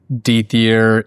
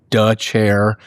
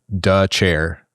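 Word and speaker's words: Dethier: It looks like Dier. It is pronounced duh chair.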